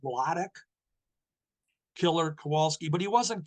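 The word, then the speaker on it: Władek: His first name was always pronounced Wladek, Killer Kowalski, but he wasn't Killer in those days.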